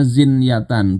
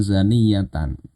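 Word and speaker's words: زنية: Bacanya zinyatan bukan zaniyatan. Kalau zaniyatan ini perempuan pelacur pezina, tapi zinyatan ini kondisi berzinanya.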